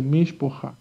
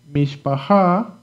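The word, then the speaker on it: מִשְׁפָּחָה: Puedes decir Mishpaha o puedes decir, como muchas personas pronuncian, principalmente los Ashkenazim, cuando hay dos A, mencionan una como O, la primera y después A. Mishpaha. Okay? Pretty much the Ashkenazim are the ones who say Mishpaha.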